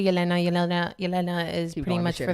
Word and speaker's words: Yelena: So my name is, pronounced Yelena or Yelena. I say Yelena.